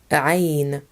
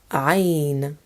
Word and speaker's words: عين: This sound comes from the very back of the throat. When trying to pronounce this letter, imagine that you're trying to connect all your vocal folds together.